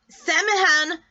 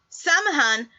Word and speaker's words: Samhain: Samhain is spelled S-A-M-H-A-I-N.